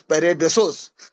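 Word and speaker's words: paradeisos: उसका पैरेसोस यानी स्पेलिंग बता दे रहा हूं। पी ए आर ए टी ई आई एस ओ एस पैराडेसोस पैरेडोसोस का अर्थ है अदन की वाटिका और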